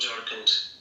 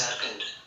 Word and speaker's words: Jharkhand: No, it's not Jharkhand. Sorry, It's Jharkhand. Oh, Jharkhand. Sorry for Yeah. that mispronunciation.